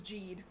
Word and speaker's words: Jeed: But we don't know what the actual Romanized spelling of it is, but the pronunciation is Jeed. Yes.